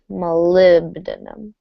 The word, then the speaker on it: molybdenum: you go let's see let me just highlight where we have stress aluminum it's going to be the second syllable of each word so the aluminum the old linoleum and the molybdenum all right give it